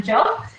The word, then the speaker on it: Jyo: It's pronounced without the Y in case you're wondering. So I'm Jyo, and I'm joining you tonight from Sydney, Australia.